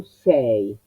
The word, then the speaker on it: sei: El verbo essere, io sono, tu sei, tu eres reina. Sei, la E abierta, sei, regina.